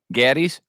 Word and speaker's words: Gattis: think uh it's Daddy's gaddies yeah someone told me that the a is like a short a like apple gaddies gaddies gaddies Mr